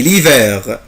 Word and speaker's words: l'hiver: unité 10 titré c'est l'hiver c'est l'hiver c'est l'hiver يعني إنه الشتاء سي يعني هذه إنها سي ليفير اللي هو فصل الشتاء. طبعا ici je ne prononce pas la lettre H مش بنطق طبعا حرف